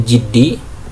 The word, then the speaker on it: الجد: Ini bacanya jad ya. Faslun fil jiddi, maaf kasroh, yaitu jiddi, wal muwadhabah lan muwadhabah kontinuitas, wal himmati lan semangat.